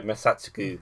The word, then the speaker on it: Masatsugu: It's probably Masatsugi, but it's using a U, so Masatsugu is how I pronounce it.